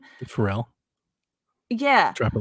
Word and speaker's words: Pharrell: Pharrell.